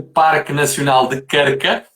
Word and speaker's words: Krka: Também é um nome um pouco difícil de pronunciar, mas é assim, Krka.